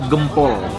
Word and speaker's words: Gempol: Ini dia nih men, seporsi kupat tahu Gempol. Bacanya Gempol ya, bukan Gempol.